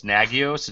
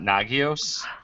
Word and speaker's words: Nagios: and okay so Jason so apparently I've been saying it wrong this whole time so it's nagios it's not nagios oh my god let's